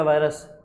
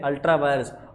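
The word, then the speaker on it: ultra vires: तो वायरस नहीं है, वायर्स ही है, अल्ट्रा वायर्स। और तार नहीं है ये, कभी बिजली की तार समझ लो, वायर, ये वायर नहीं है, स्पेलिंग ठीक है, और वायरस भी नहीं है।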